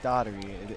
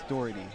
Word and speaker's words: Doherty: It's not Daugherty. It has been confirmed it is Doherty.